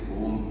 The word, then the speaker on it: Om: Actually, the right way to say Om is so A, then U, second chakra, then feel like Sadhguru Jaggi has this in this.